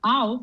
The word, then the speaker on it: auf: Here, auf has to be with glottis, yeah?